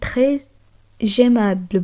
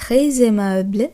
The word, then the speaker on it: très aimable: যখন আমরা এস এর পর পরবর্তী কোনো ভয়েল বা ইংরেজিতে যেটি আমরা ভাওয়েল বলি তার উচ্চারণ করব, তখন ফরাসি ভাষার ক্ষেত্রে সেটি জেডের ন্যায় উচ্চারণ হয়।